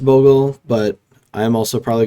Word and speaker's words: Bogle: hex proof deck um you may also have heard this called boggles or boggles um after slippery bogel it's definitely pronounced bogle but i am also